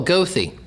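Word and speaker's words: Goethe: Western Marion County what's it called g-o-e-t-h-e oh ghosty ghosty ghosty so you pronounce it yeah okay and I didn't know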